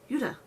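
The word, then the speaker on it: 유다: like that um but Judas is pronounced Yuda um which was which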